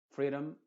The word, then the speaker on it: freedom: Por ejemplo, freedom, freedom, kingdom. No digo freedom ni kingdom, sino freedom, kingdom, wisdom, them.